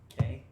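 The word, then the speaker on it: Cay: K, spelled like key, like Florida key. So it's- K-E-Y? No, it's C-A-Y. That's how you spell key.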